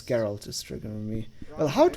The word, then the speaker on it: Geralt: Polish, you should know how to pronounce it the right way, because it's not Gerald, right?